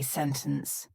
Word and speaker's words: sentence: lot of comments about how to pronounce the word sentence sentence or sentence ooh I say sentence and I've gotten so many comments people saying kashish why do you pronounce it like that well this is a lovely concept called the glottal tea glottal is kind of